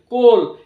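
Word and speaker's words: coal: রয়েছে নেক্সট লক্ষ্য করো সি ও এল কোল এখানেও সেম সি ও এবং এল এই তিনটি লেটার আমরা উচ্চারণ করছি এবং এ লেটারটি এখানে সাইলেন্ট রয়েছে নেক্সট সি ও এ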